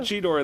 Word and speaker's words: Cheetor: He said Cheetor in this episode and everything.